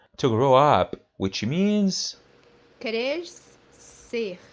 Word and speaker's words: crescer: First one, when it's followed by vowels E, E, or in English, IE, it would be pronounced as SE.